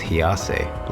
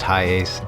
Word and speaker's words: HiAce: I thought it was HiAce, like a Japanese pronunciation, but it's pronounced HiAce, and the USA is actually one of the only places in the world that it wasn't sold.